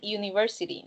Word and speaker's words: university: And same with university. So you don't say an university, no. You say a university.